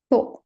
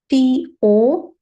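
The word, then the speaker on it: と: to one and two to t o but th o sound right to so one and two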